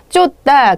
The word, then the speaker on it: 쫓다: 치읓으로 썼어요. 쫓다. 그러나 발음할 땐 대표음 디귿으로 발음이 됩니다.